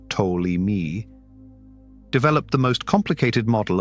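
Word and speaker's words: Ptolemy: to 170 years ago and is pronounced toi me developed the most complicated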